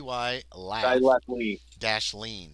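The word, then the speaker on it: Dylath-Leen: Fernando to go to dth or yeah D Dy laugh Dash lean oh that's how it's pronounced Dy and then laugh l a one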